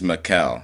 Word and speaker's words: Mikhael: It's Mikhael, so it's spelled like Michael, Mikhael. but it's a K instead of a C.